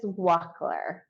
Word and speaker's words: Wachtler: say your last name it's Walker Walker down the street Walker Walker all right Tiffany Walker